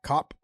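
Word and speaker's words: Kape: say his last name cop cape cape okay okay they were saying cop last time and i've heard both in in japan it was always cape now i heard when the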